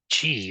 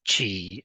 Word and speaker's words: qi: Um, in Mandarin Chinese, it is pronounced something like qi in English, but the tongue position is different.